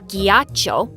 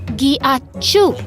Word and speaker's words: ghiaccio: No, it's not ghiaccio. It's pronounced ghiacciu.